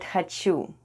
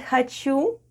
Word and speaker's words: хочу: Next we have О /o/ and О /o/ is unstressed in the word ХОЧУ /hhachu/ and is pronounced as /a/ - /hhachu/.